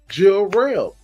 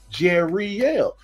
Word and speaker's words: Jerielle: and I was like my name has three syllables she was like no your name she's like try it again I was like yeah I have three syllables and she was like no you have two Jill real and I was like no I have three jerielle and she's like you